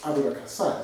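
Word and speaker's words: あぶらくさい: And fat here is written shibo, but pronounced aburakasai, smelling of fat, which is kind of more speakable than shibo would be.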